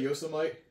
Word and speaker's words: Yosemite: another really big track wait that's how you pronounce that Yos yosity you said Yosemite y like Y national park yeah featuring gun and